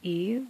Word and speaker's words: eye: Oh, for those of you who are familiar with this poem, you know that it's pronounced, usually it's pronounced E, just so it can rhyme with symmetry.